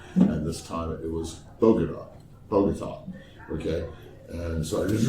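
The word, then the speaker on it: Bogotá: So Bogota is pronounced Bogota. Yeah, Bogota, Bogota, not Bogode, is not long A, as in lame brain.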